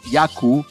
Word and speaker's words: yaku: They are accented on the penultimate syllable. For example, nina, which is fire, wawa, baby, and yaku, which is water.